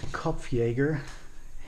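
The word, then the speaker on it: Kopfjäger: not sure on pronunciation I'm just pronouncing that uh the German Way kof Yeager headhunter this is the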